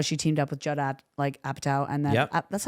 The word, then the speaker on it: Apatow: writing sense how she teamed up with Judd Apatow and then Yep. that's how you pronounce it, right? Apatow, yep.